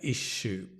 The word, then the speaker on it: issue: Issue with a sh, like shop. She, shop, shu and issue.